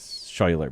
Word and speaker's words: Schuyler: it and be like, that looks like it says Schuyler, but it's Schuyler.